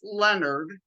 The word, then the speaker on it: Lenard: yeah and then also my last name is pronounced Leonard like we discussed before we're starting the recording it looks like Leonard it's not French it's Leonard but no o in it like the first name Leonard has a no in it